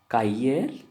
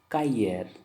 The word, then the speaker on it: cahier: Cahier, how you pronounce? Cahier, cahier. R also pronounced in the ending but a little.